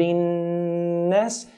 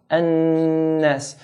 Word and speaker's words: النَّاسِ: So we hold the noon. بِرَبِّن, hold, بِرَبِّن, then let go. قُلْ أَعُوذُ بِرَبِّ النَّاسِ, بِرَبِّ النَّاسِ.